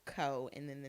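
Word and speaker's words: เกาะ: them on a map, they say Ko, and I could be pronouncing this wrong, but it's like Ko, whatever.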